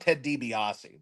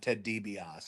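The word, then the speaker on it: Ted DiBiase: she actually she loved Ted debiasi that was like her OG favorite wrestler was the Million dooll Man Ted dbios she couldn't say his name right she called him Ted debos she couldn't get his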